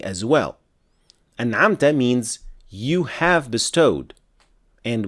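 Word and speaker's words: أَنْعَمْتَ: For the word an'amta, pay attention not to say an'amtu with dhamma because it completely changes the meaning as well. An'amta means you have bestowed.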